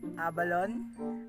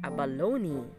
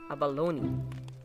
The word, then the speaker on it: abalone: Pero, ang tamang pagbigkas talaga dyan ay abalone. Yes, abalone. The stress falls on the third syllable. So, it's abalone.